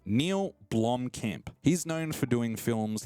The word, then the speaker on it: Blomkamp: benefited from having a director like Neil blonde blonkampf I've got to make sure I say his name right Neil blomkamp he's known for doing films like District 9